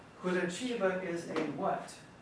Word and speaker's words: Curitiba: Now, most people would look at this and pronounce this word Curitiba, which is not incorrect. The Spanish, the Portuguese would say Curitiba. In Brazilian Portuguese, Curitiba, Curitiba. The T followed by an I is a ch, ch.